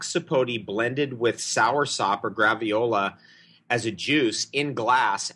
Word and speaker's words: graviola: You can get black sapote blended with soursop or graviola as a juice in glass at the market in Mexico City. Would you spell that word for us?